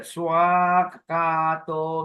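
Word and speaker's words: svākkhāto: Okay, the catchword is the first word, swakato. Many people forget this long A there.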